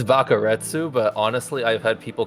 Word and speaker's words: Bakaretsu: I don't know if you pronounce the Sioux or if it's just Bakaretz. It's Bakaretsu, but honestly, I've had people call me so many different things from Baka to Retsu.